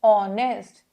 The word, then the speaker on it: honest: the pronunciation is or honest why because h is silent so i don't say